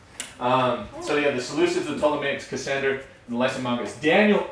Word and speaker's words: Ptolemaics: The one where the P is silent. The piece. The one with the P is silent. Yes. The Ptolemaics.